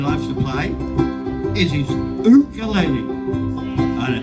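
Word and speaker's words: ukulele: to play is his o aele o aele that's how they say it in Hawaii you got to have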